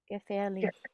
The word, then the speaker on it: gefährlich: Gefährlich. Gefährlich. And make sure to keep your mouth open at the very end because the ch comes after the i.